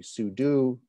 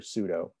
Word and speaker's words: sudo: as su super user so perhaps the proper way to pronounce that would be sudo but people i don't know i i hear pseudo so we're going to